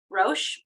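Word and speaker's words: ראש: Rosh.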